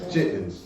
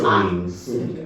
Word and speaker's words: chitterlings: The way we say it ain't how it's spelled. Okay. Chitlins. That's how we say it. I think it's It's spelled C-H-I. chitterlings.